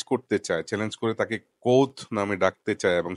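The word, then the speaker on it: Kvothe: নাম হচ্ছে কোত কোথ উচ্চারণটা একটু মানে ক এর উপর জোর দিয়ে করতে হবে কারণ হচ্ছে ইংরেজিতে বানানটা হচ্ছে কে ভি ও টি এইচ ই টাইপের একটা বানান তো সেজন্য এটাকে কোথ এভাবে বলতে হবে আর সে যে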